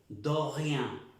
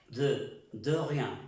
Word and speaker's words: de rien: Suena, parece que dijéramos do rien. Es de rien.